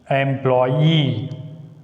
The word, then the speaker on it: employee: Here the last syllable begins with Y. That's why we should put the stress on E. Employee.